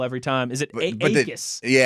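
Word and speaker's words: Jacas: Is it Acus? The J is silent. Gabe Acus.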